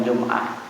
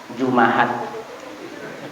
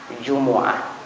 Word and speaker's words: جمعة: Jadi anna yaumal Jumu'ati, didhammahkan huruf mimnya lebih fasih daripada disukunkan. Cuman kebanyakan di daerah kita membacanya sukun, padahal afdalnya itu dibaca dhammah, Jumu'ah. Ya, Jumu'ah. Keempat-empatnya boleh, Jum'ah, Jumu'ah, Jumi'ah dan Juma'ah, tapi Jumu'ah itu yang paling fasih.